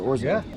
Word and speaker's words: orzo: little container you get like salt Bab or oro oro I keep saying it wrong this is the first time I've ever cooking with orzo it's all dirt but we're doing like 70